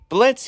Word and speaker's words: Blitzø: the heck hey everybody Blitz here at the O is silent all right finally give